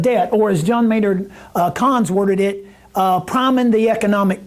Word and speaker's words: Keynes: right here, John Maynard Keynes, or John Maynard Keynes, some people will pronounce it.